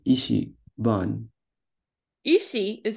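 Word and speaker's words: 板: So ita, when it's over here, it's pronounced as ban.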